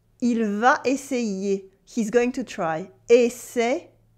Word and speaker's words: essayer: it is il va essayer. Il va essayer.